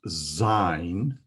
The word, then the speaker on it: Zayin: So the next letter we will learn is ZAYIN. It's spelled Z-A-Y-I-N, but the pronunciation sounds very much like the name of the city of Jerusalem, Zion.